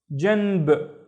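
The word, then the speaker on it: جنب: We have the ba with no vowels, so it's janb, janb.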